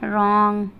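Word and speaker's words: wrong: तो ये सब वर्ड है जिसमें हम W को नहीं पढ़ेंगे, एकदम नहीं पढ़ेंगे, क्योंकि देखिए सब में W के बाद R दिया हुआ, W के बाद R दिया हुआ, इसलिए हम W का उच्चारण नहीं करेंगे।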